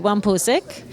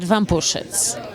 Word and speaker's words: Wampusik: No, Americans tend to say Wampusik, and in Polish you pronounce it Wampusic.